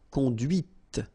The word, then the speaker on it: conduit: And that's when you hear the difference between conduit, because remember, final T is not pronounced, conduit, here, and then the feminine, conduite. Okay, so here you can listen to this t, t, okay, conduite.